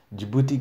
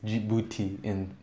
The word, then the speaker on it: Djibouti: Djibouti in Swahili is Djibouti. In Swahili is just Djibouti, but then we write it different because we don't have that Djibouti. How is it pronounced in French? We don't have that DJ thing that French people do now. We just say Djibouti.